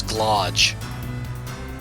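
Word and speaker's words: Glaug: But it's apparently pronounced garage. So, it's glodge.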